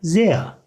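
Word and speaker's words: sehr: Ya da zea. Zea. R sonunda olunca A şeklinde yuvarlanıyor arkadaşlar.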